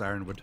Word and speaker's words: Ironwood: It's just ironwood. It's just pronounced ironwood. Yeah. Oh. In Yonwood. I was pronouncing it Yonwood the entire time I wrote it. Yeah, I was like, Yearnwood. But no, it's just iron.